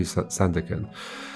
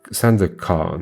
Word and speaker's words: Sandakan: San No, San San da San da kan. Sandakan? With emphasis on the last syllable, kan.